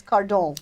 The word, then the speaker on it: Cardon: because that because my married name is so unpronounceable my career name which is car dong dong nose testing that's in French Dustin wah